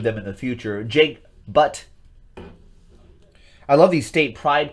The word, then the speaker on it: Butt: It's Butt. It's literally pronounced Butt.